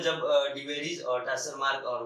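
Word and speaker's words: Tschermak: उसके बाद 90s में 1900 में 3 साइंटिस्ट आए, ह्यूगो डिवेरिज, कैरेंस एंड टैसरमार्क या सेरमार्क कहा जाता है, टी साइलेंट।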